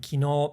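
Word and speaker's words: 昨日: But I believe in Osaka it's kino and that's a different word in standard Japanese. That's the word for function in standard Japanese. Kino in standard Japanese is function and kino is yesterday.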